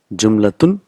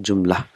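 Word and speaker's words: جملة: Jumlatun, but we will pronounce it jumla. So last letter is not pronounced.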